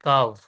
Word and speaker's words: Kav: Paid sir, KAV, काव, right?